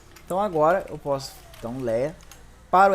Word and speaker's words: LEA: Lea, lia, lei, lea no caso, a pronúncia que vocês quiserem, tá? Eu prefiro chamar de lea.